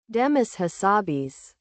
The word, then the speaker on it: Demis Hassabis: How to pronounce? Demis Hassabis.